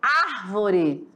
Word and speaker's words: árvore: sílaba tônica por exemplo árvore né que aqui ela está sendo acentuada porque ela é uma proparoxítona né É na primeira sílaba e não na segunda como a árvore certo Então essa é